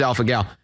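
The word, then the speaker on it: alpha-gal: Is it AlphaGal, guys? Is that the pronunciation? It is AlphaGal.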